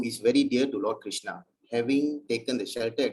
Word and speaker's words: Krishna: The words Hare pronounced as Hare, Krishna pronounced as Krishna, and Rama rhymes with Rama are Sanskrit words.